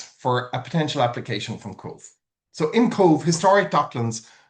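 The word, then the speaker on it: Cobh: So I live in a place called Cove. That's the way it's pronounced.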